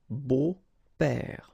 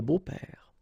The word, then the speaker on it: beaux-pères: Des beaux-pères, okay? Remember the S, but then it's silent. Des beaux-pères.